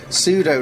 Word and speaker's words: pseudo: how rubish I am pseudo no that's got need a p don't we cuz it's a silent P oh no and then